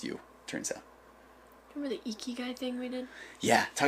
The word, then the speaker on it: Ikigai: Remember the Ikigai thing we did?